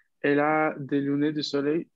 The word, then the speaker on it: soleil: Soleil. Atención, aquí la L final y la I hacen este sonido Y.